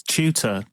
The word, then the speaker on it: Chuter: Is it Chuter? It's Chuter. You'd think it's Chuter, wouldn't you? But yeah, Chuter.